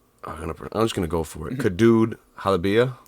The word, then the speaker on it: قدود حلبية: Kadud Halabia. قدود حلبية.